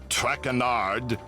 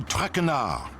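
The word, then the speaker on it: Tragere: tongue butchered wanna eat as for my name not track a nard it is trachana enough what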